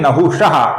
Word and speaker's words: नहुषः: आगे है नहुषः, इसके विसर्ग का ओ हुआ है क्योंकि आगे वो ये मृदु व्यंजन आया हुआ है।